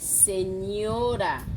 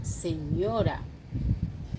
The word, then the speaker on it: señora: Un N est aussi sous la lettre N qui se prononce de la même façon en français comme la GN. Ici, on dit señora, señora, señor, señorita.